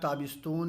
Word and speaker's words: تابستان: ودر تابستون میرا صد، یہ تابستان ہے اور تلفظ اس کا تابستون کیا جاتا ہے، زمستان زمستون، زمستان ہو گیا جاڑے کا موسم اور اس کا تلفظ کیا جاتا ہے زمستون، اسی طریقے سے تابستان ہے تو تلفظ آپ کریں گے تابستون۔ ودر تابستون میرا صد،